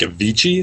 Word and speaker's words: Avicii: a concert by uh I think Avicii is how you pronounce it basically is a DJ